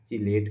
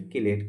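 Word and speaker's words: chelate: हम क्या बोलते हैं, चिलेट कहते हैं या फिर किलेट कहते हैं। जो भी प्रोनाउंसिएशन करना हो कर सकते हैं।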